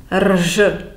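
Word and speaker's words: Ř: with the inverted circumflex, which is pronounced R, R. It represents the raised alveolar non-sonorant trill, which will not help you very much either. But it's a sound between the R and the Z.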